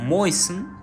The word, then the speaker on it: moisten: Now finally, when we do not pronounce T, of course that is called silent T. In words like listen, castle, hustle, and even moisten, we write T but never pronounce it.